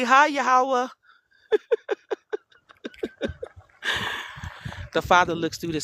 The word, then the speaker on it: Yahweh: Some people say Yahuwah, so I don't really fight over the name. It's just how you pronounce it. I say Yahweh. That's how I say it.